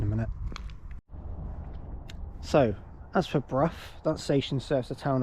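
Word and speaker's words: Brough: Um, I used to actually think it was pronounced Bruh, but actually like Bruh. It's not. It's Bruff.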